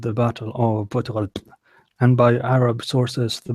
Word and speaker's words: Poitiers: I don't know how do you pronounce that. It's a place in France. Poitiers. Yeah, Poitiers.